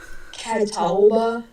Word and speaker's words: Catawba: What was the town you were trying to pronounce? Catawba.